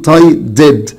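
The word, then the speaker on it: tied: طب تايدي، هتقول لي تايدي يا مستر بتنتهي بالواي ما بتنتهيش بالدي، هقول لك بس انا ورا الده ساوند لازم الاي دي تنطق كامله، فعشان كده لازم اقول تايدد تايدد تايدد.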